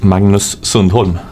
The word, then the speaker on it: Magnus Sundholm: Magnus Sundholm.